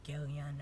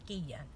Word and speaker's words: Guillen: or something like that me being latina pronounce it properly it's Giga you know the double ELLs okay when you say the word guess idea it's not kiss a Dilla no it's kiss idea and that is how you would pronounce her name if you are following